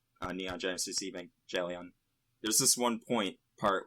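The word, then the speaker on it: Evangelion: like the Neon Genesis Evan gelon I do hard G not soft G because I'm a baller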